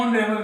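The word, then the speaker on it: honorable: में, space ऑनरेबल में, हॉरेबल नहीं है, ऑनरेबल में, ओ। तो इसका उच्चारण ओ से हो रहा है, किससे हो रहा है, ओ।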